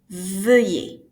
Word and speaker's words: veuillez: So the pronunciation of it is veuillez.